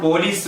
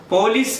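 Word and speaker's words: police: നമ്മൾ പറയാറുണ്ട്, ഇപ്പോൾ പോലീസ് വരും. പോലീസ് എന്ന് പറയുന്ന വാക്ക് തെറ്റാണ്. കൃത്യമായ ഉച്ചാരണം പെലീസ്.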